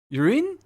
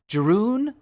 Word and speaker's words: Jeroen: Urine? No, that's even worse. If you pronounce the O A in Jeroen as ooh, you'll probably get it. Jeroen?